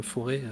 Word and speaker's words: Forez: Alors moi je dis le Forez parce que je suis auvergnat, mais il faut dire le Forêt. Normalement on prononce pas le Z.